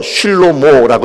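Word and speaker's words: שלמה: 그런데 여러분, 솔로몬이라고 하는 단어가, 솔로몬이라고 하는 이름이 이 히브리어로는 솔로몬이 아니고요, 슐로모라고 읽습니다. 슐로모.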